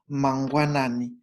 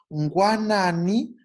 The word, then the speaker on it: mangwanani: And the hardest compound to pronounce there is in mangwanani. Ngwanani. Mangwanani kwaka naka here. Nasi mamuka mangwanani kwaka naka here.